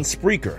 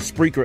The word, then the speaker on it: Spreaker: get that joint that's PR EA keer is how it spelled like speaker but put an R in between the P and the e you can also hear